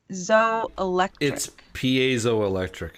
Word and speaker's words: piezoelectric: spot explains it has a chip controlled p.o.z piezoelectric is how you say it so a piezoelectric